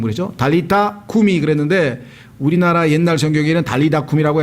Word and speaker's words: 달리타 쿰: 이미 달리다쿰 이렇게 하는데 실제 영어 발음으로 치자면은 달리타 그러면 소녀야 쿰이 일어나라 이렇게 해서 달리타 쿰이 해야 되는데 아예 붙여가지고 달리다쿰 해서 아예 용어처럼 굳어져 있죠.